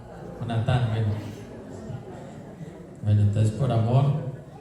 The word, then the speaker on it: Jonatán: Bueno, algunos dicen Jonatán o Jonathan. Bueno, se dice, ¿cómo se dice? Jonatán.